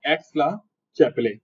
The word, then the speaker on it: Aix-la-Chapelle: तो ये नाम ध्यान रखना है, एक्स-ला-चैपेले, चैपले नहीं होता, चैपले होता है वैसे वो, लेकिन चैपले भी बोलेगा तो कोई दिक्कत नहीं है, स्पेलिंग लिखनी आनी चाहिए, AIXLACHAPPLE।